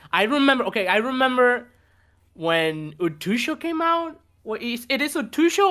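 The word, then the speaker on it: 空: Utsuo. Yeah. Okay. Utsuo. When she came out. Utso, okay, I never knew how to pronounce it, so I always call her Utusho.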